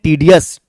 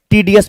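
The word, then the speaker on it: tedious: walk was tiring and टीडीयू अस नहीं पढ़ोगे टीडीएस पढ़ा जाता है द वॉक वाज टायरिंग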